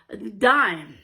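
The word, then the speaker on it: disme: Well, way back in 1792 in the Coinage Act, it was actually spelled D-I-S-M-E, but pronounced dime.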